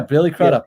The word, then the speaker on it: Billy Crudup: Yeah, Billy Crudup.